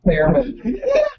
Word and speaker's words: Theremin: Piano, Thurman. keyboard, something like Thurman that. all the way. What is that? Theremin? I'll tell you when you're older. Theremin. It's pronounced Theremin.